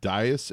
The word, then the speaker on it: Dyess: you're at you're in Abilene Texas it you pronounce it Dyess Air Force Base yeah Dyess Air Force Base how long you been there